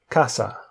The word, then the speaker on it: casa: So C, when it's before an A, an O, or a U, it's pronounced like a K. So we have casa, coche, cuenta.